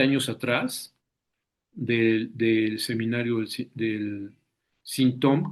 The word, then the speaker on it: Sinthome: Entonces, voy a comenzar, digamos, 20 años atrás del seminario del Sintom, que yo siempre digo Santom. Veremos por qué se dice Sintom, Santom, es como se pronuncia, por qué prefiero utilizar la palabra Santom.